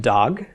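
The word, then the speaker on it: דג: example Dalit gimel comments under the dal 'it pronounced dog a dog is fish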